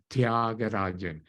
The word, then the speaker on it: Thiagarajan: specific side beautiful brilliant the last name is thiagarajan Tia at the Spanish for ant can you say tia the middle sound is